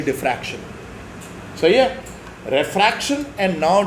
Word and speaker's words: diffraction: सो ये some people tend to pronounce it एज डायफ्रैक्शन, but it is actually diffraction.